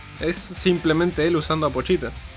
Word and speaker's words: Pochita: escuchar en el anime como iban a pronunciar pochita es un nombre que no me no me podía imaginar como iba a ser pronunciado en japonés Pero al final me terminó gustando el puchita y hablando de puchita algo